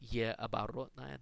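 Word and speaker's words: э оборотное: And in fact, the Russians call it ye оборотная. That means backwards E in Russian, and it's used almost exclusively in foreign words where Russian needs the sound like the sound in the word bet.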